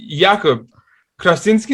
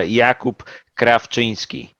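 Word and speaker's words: Jakub Krawczyński: him um yeah so jacob krasinski is that is that a good pronunciation well for an english speaking person that i think you know give you the benefit of the doubt yeah give us the real one let's hear it yeah yeah my actual pronunciation of my name is uh jakub kravchinsky ah that's yes that sounds better yeah those should those just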